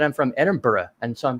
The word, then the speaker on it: Edinburgh: and we call it Edinburgh Edinburgh yeah anything with b-u-r-g-h in America it's Berg and that's a lot